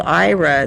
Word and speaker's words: Aira: I use a service called IRA that is amazing, and it's spelled AIRA. And IRA is a service through